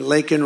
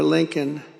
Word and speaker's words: Laken: And then he pronounced her name wrong. Remember, he called her Lincoln.